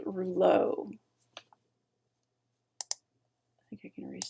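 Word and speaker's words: rouleau: I'm told are plural if you ditch that last X it's the singular which apparently is pronounced rule oh I think you can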